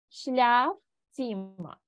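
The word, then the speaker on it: Schlafzimmer: літера З А вона Ось тут в нас читається завжди як ц шляф ціма і ми тут маємо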